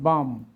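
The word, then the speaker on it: balm: যেমন বি এল এম এই এল উচ্চারণ হয় না বাম এ এর পরে এল আছে এজন্য এইযে ভাওয়েলের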